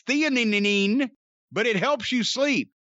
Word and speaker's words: theanine: I don't know how to pronounce that. And nano CBD. It's theanine, but it helps you sleep.